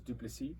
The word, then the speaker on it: Du Plessis: the surname wasn't that bad because it's French, so a lot of people can say, oh, okay, the S is silent, so it's Du Plessis.